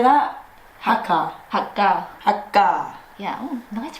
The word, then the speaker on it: Hakka: Hakka. Hakka. Hakka. Yeah, oh, nice pronunciation.